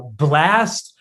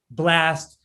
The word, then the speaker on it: Blxst: uh new artist blast it's spelled with i get it every time we play the song i'm like you got if you if you want to find more music from blast you got to spell it with the x what's the what's the